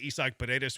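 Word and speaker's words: Isaac Paredes: Why does Jeremy say Isach Pedus with the accent because that's how you say his name.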